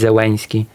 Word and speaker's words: Zelensky: But then again, in Polish, sometimes people take the Ukrainian L, which is the old Polish actor's L, which used to be pronounced by many actors before World War II, and they read it as Eł. So sometimes people just read it as Zelensky.